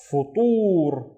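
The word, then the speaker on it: فطور: Let's read the first syllable, fu, fu. And then we have the ta with the dhamma, so tu, tur, futur, and futur is breakfast, futur.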